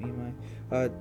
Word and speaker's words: Imai: Let me not say his name wrong, because it is Japanese. Imai is his last name. Imai.